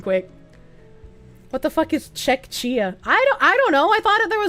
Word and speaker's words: Czechia: It's pronounced Czechia.